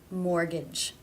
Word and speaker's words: mortgage: vowel examples about fitness there are some words that are just written with a silent T for example Christmas whistle mortgage these unfortunately just need to be learned there is one case